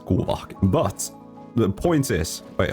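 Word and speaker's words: Kuuvahki: The power that nod cry characters use is called kuvaki or I guess if you pronounce it correctly, it's kuvaki.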